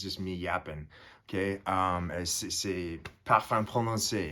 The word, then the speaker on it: Parfum Prononcé: C'est Parfum Prononcé. It's perfume pronounced.